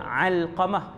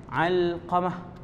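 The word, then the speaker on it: Alqamah: Cara baca dia Al-Qamah huruf ain. Al-Qamah.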